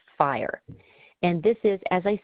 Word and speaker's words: FHIR: That stands for Fast Healthcare Interoperability Resources, but it's pronounced FHIR.